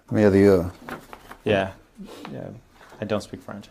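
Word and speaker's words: Mérieux: Merieux. Yeah. I don't speak French, I apologize. And can you pronounce that? Merieux.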